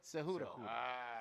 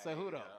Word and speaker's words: Cejudo: Cejudo. Say it again for him. Cejudo. Cejudo.